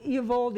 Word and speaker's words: Eovaldi: So Eovaldi, and I know I keep saying that name wrong.